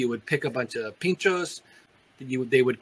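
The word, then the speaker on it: Pintxos: Restaurant and ask for Tapas oh okay they're Pinchos p-i-n-t-x here we go again oh and so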